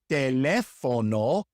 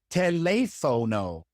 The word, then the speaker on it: teléfono: It is teléfono and not teléfono.